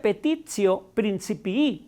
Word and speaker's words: petitio principii: En filosofía diríamos que es una falacia argumentum petitio principii. Se pronuncia petitio principii en latín y significa petición de principio.